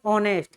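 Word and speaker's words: honest: ये ध्वनि किससे स्टार्ट हो रही है? ऑनेस्ट। किससे स्टार्ट हो रही है? ओ से स्टार्ट हो रही है। तो इसलिए यहाँ पे क्या आएगा? ओ आ रहा है, नहीं वावल आ रहा है, तुम्हारा क्या आएगा? एन आएगा। एन ऑनेस्ट।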